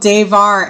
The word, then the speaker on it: Daevar: That was a band called Davar. And the way you spell that is D A E V A R.